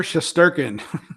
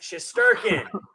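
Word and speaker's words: Shesterkin: right so guess what rich you get to pronounce his name igor shasturkin yes schizerkin i don't know why i can never pronounce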